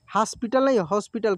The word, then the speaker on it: हॉस्पिटल: के दोस्त उसको हॉस्पिटल हॉस्पिटल क्योंकि यह चंद्र जो है ओ के रूप में उच्चारण होता है ठीक है ना हॉस्पिटल लेकर गए